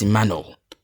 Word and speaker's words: Emmanuel: I don't even I I do not I I don't ever call myself. No, it's immano. And if you don't pronounce the no like null like your tongue bends like into an arc shape.